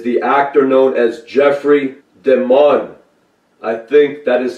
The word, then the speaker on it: DeMunn: However, an update is that Jim Pace is the actor known as Jeffrey DeMunn. I think that is how you pronounce that. And it's spelled D-E-M-U-N-N, like demon.